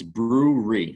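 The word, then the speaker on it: BrewRE: But for the people listening, it's brewery. So it's obviously a play on words with like a brewery. It's spelled BREW-RE, and the RE at the end stands for real estate.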